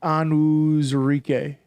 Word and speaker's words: Onwuzurike: Drew Oh, pronounced Onwuzurike? Onwuzurike.